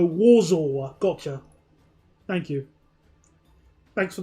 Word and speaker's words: Warsaw: To say Warsaw, you say W like a V. So, Warsaw.